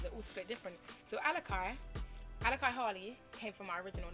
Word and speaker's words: Alicai: to pronounce it as Alicai, because I wanted to say it as Alicai, because I'm like, Alicia, kind of like Alicia Keys.